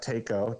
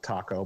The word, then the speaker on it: TACO: check out TACO, TACO, like taco, but it's pronounced TACO, a TACO thermostatically controlled mixing valve, and that should fix your problem.